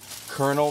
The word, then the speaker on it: colonel: the brownies I believe it's called The conel Colonel kernel brownie I don't know why it's spelled colol Colonel but KFC came out with